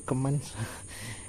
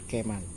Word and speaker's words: Keman: Saya masih bingung bacanya keman atau kemans ya.